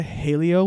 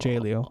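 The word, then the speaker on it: Jaleo: and then went to hey Leo which is a new hey Leo because hey leo hey Leo not Jay Leo hey Leo because the Jay in Spanish is pronounced an H okay anyway we went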